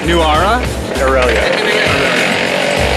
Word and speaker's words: Nuwara Eliya: And the place we're going to is pronounced properly Nuwara? Nuwara? Nuwara Eliya.